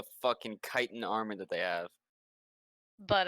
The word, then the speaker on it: chitin: ] knows even kitten I know it's chitin i bruise pronounce it chitin for years because the only place I had seen it was in Morrowind Skyrim